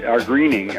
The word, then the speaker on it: Gruening: The names again, Ernest Gruening, Greening, G, but it's not spelled like green. It's spelled like Gruen, Gruening, and Wayne Morris, Morris.